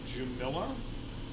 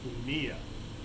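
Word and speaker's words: Jumilla: pacheco in a region spelled it looks like jumila but it's actually pronounced kunia this is the south east corner of spain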